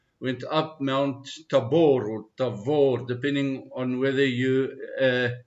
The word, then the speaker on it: Tabor: In in Hebrew the word is tavor because bet and vet is the same letter. People who are not Hebrew speakers tend to pronounce it as tabor because uh we don't know how to read the letter vet.